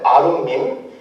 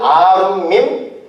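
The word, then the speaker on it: עֲרוּמִּים: 저 벌거벗었으나가 히브리어로 어떻게 발음을 하냐면 아룸밈이라고 발음을 해요. 아룸밈.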